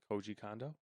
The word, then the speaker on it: Koji Kondo: Koji Kondo?